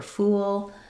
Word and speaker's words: fool: The main difference here is we have the tense oo sound for fool and the lax sound for full. I would say the other